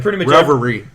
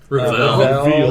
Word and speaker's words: Reveille: I kept saying Reverie. Pretty much everyone that reads the name says Reveille.